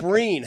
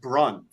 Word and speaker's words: Breen: I mispronounced my own name on the air. It's Mike Breen. How? That's hard to do. It just came out like Brun.